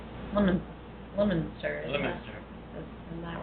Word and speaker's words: Leominster: She actually told us that they were made originally from her hometown, which is Leominster, Massachusetts. Leominster? Leominster.